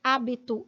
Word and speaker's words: hábito: pele que eu habito você vê que a diferença se dá pela sílaba tônica né hábito que é uma proparoxítona vai ter mais força na sílaba antepenúltima e hábito que Tecnicamente tem a mesma escrita mas a diferença se dá pela sílaba tônica que não é mais sem a penúltima Então esta é propa oxítona olha aí ó proparoxítona e esta habito é paroxítona sílaba tônica penúltima sílaba tônica na proparoxítona